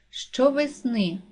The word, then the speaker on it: щовесни: падає на другий склад щовесни наголос падає на третій склад деякий наголос падає на